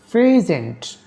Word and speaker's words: present: 2 number rule, stress on the first syllable of 2 syllable adjectives. Example, present as an adjective means opposite of absent.